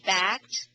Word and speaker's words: backed: perfect perfect oh mhm and the a is called a short sound the a the a in back is short it's called a short vowel a short sound and